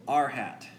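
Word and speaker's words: r̂: the unit vector so R with a carrot symbol we pronounce it our hat we call that the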